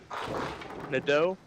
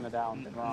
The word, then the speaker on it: Nadeau: Nadeau. Nadeau. I was going Nadal.